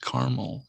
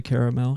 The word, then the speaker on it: Carmel: very aware of mount carmel and uh i don't say caramel because that is just not how it's pronounced but a-r-m-e-l it reminds me of